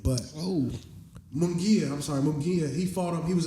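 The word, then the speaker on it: Munguía: a really respectful guy his last opponent uh manga uh I think that's how you say his name but oh mongia I'm sorry mongia he fought him he was another Mexican fighter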